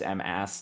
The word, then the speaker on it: M-AS: There was a Hime player whose name was all caps M-AS, and apparently he says it's just pronounced like Mas, even though that's not what it looks like.